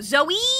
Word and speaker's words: Zoe: Pronounce the E. I got you. Zoe!